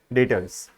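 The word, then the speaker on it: debtors: business को बोलते हैं डेटर्स क्लियर है ये याद रखना प्रोनाउंस नहीं करना साइलेंट है ये ठीक है डेटर्स नेक्स्ट है बिल रिसी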